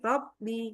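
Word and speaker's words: رَبِّ: Rabnya itu bnya itu agak ee istilahnya bnya yang bikin jadinya rabbnya itu kayak pengin kalau enggak setebal itu kayaknya enggak afdal gitu ya. Makanya huruf bnya malah justru tipisin tipisin rabbi rabbi gitu yai. Heeh. Jadi karena kita dulu dulu tuh memang kebiasaan kita tuh bilang kalau rabbi itu kayak rabbi. Jadi bnya agak tawasuk sebenarnya.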